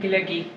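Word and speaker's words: glögi: How do you pronounce this again? Glöggi.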